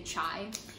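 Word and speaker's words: 茶: people drinking almost they chai well that's also kind of like chinese pronunciation we say cha which is tea we have a lot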